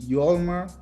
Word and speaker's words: Yolmer: for you guys so my full name is yolmer Carlos Javier Sanchez Janis okay Jan I didn't